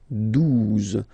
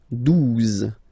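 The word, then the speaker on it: douze: phonetically, 11, okay, 12, 12. O, U, the two together will give you the sound OO, okay? And then Z, 12, 12, all right?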